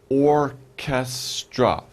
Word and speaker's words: orchestra: these we're looking for orchestra orchestra three syllables or ca stra orchestra and orchestra the philharmonic the new